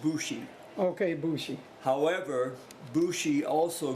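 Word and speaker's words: 節: Now the Bushi, that's a play on words. The character that third character down, that one means song, but it's pronounced Bushi.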